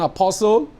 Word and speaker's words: apostle: the T in Castle you don't pronounce the T in apostle you don't pronounce the